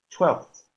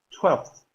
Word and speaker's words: twelfth: Tenemos el caso del 12 o doceavo, twelfth, twelfth.